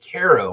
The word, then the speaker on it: Cairo: the welcome to sign but everybody pronounces it Carol and I'm like no Caro is a syrup k-a-r-o it's a it's a